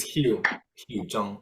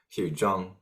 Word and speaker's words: Hiu Joong: Oh, but it's Hugh Zhang.